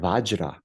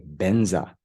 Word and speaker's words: vajra: So the word vajra, vajra. Then the Tibetans they say benza, benza.